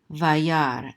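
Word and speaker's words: וַיַּרְא: is going to be, the Shiva under the Resh is going to be silent, so this Resh is going to be the end of this syllable right here, so this is Yar, so this is Vayar, and then the Aleph is silent, Vayar.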